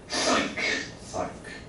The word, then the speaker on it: psych: Psych，对不对？